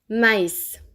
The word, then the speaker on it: maïs: Il sert généralement à indiquer qu'on doit séparer la prononciation de 2 voyelles qui sont collées. Écoutez la différence. Mais, maïs.